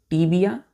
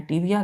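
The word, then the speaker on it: tibia: होते हैं पहला बोन का नाम है बच्चों टी बिया टी आई बी आई ए टी बया और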